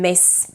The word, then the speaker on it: Miss: And a word like miss, as in Miss Eldridge, is pronounced with an S as well. So Miss Eldridge and not Ms. Eldridge, right?